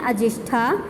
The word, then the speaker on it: अजिष्ठा: यहीं पर अजंता से 2 मील की दूरी पर अजिष्ठा नाम का एक गांव है, जिसका सही उच्चारण है अजिष्ठा।